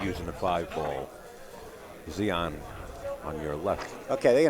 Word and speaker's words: Zion: just getting Zion's pronunciation directly from him, and it is Zion.